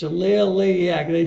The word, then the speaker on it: Liliac: I got the name it's not lilac it's a little late yeah because they spell